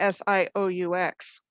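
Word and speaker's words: Sault: focus on this is called the sioux which is how he got an interview named sue so johnny cash uh but it's it's spelled the french way it's s-a-u-l-t in both michigan and in ontario do you think that's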